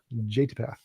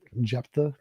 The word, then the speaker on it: Jephthah: Jatipath. I don't know. Jephthah is how you pronounce it.